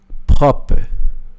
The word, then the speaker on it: propre: Propre. Propre. Eu vou escrever aqui para você, só para você ver. Escreve propre, né? Só que no francês a gente não fala pro.